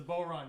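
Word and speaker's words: bodhrán: you now is the is the d silent is it isn't it a boron it's a boron yeah it's spelled b-o-d-h-r-a-n yeah yeah but they're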